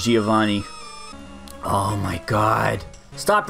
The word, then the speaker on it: Giovanni: I go fight Giovanni you've pronounced it guy avani as a kid I'm pretty sure it's Giovanni oh my God stop